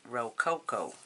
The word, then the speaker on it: Rococo: beautiful absolutely beautiful and you got Rocco rolls it's actually rokoko Rococo Rococo rules you